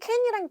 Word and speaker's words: can: 미국식 발음으로 들어갔을 때에는 거의 발음으로만은 구분하기 좀 힘들고 짧냐, 좀 기냐 이런 느낌으로 봐주셔야 돼요. 그리고 이제 can으로 들어가게 되면은 얘는 can, I can do it. I can do it. 요런 소리에 더 가깝고요.